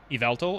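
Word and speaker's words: Yveltal: Is the Do you pronounce the Y at the front? Is itveltal or just Vveltl? Iveltal.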